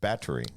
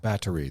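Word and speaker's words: Báthory: say what is that battery battery the H is silent so spelled b a t h o r y pronounced in the Polish or Slovakian vernacular someone stole your battery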